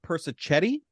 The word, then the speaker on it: Persichetti: First up, we have Bob Persichetti. I believe that's the correct pronunciation.